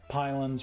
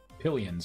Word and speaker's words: pylon: So we don't have pylons working. Pillions, right? Pillions. I'm saying it wrong. Pylon.